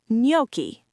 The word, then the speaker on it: gnocchi: Gnocchi is Italian and pronounced gnocchi.